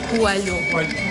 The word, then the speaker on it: coelho: Coelho.